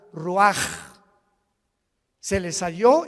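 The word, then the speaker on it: רוח: y exhaló Isaac el Roach así como suena se pronuncia la ch en hebreo como j ruaj se le salió y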